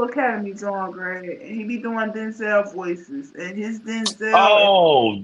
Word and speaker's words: Denzel: else have I seel his name is Denzel Benzel y'all been saying it wrong for years his it's Denzel but people been saying it wrong so long he just go with it I believe you that's